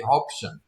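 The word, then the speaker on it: Hobbesian: They we spelled it right but we they pronounced it wrong. It should be hopshion.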